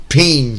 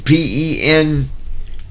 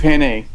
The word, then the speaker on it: penne: Peen. P-E-N-N-E. I don't know what that is. It's penne. It's pronounced penne.